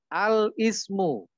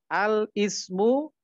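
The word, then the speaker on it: الاسم: Ini misalnya al-ismu, ya, bacanya al-ismu dan al-ibnu. Bukan alismu, bukan alibnu. Begitu ya.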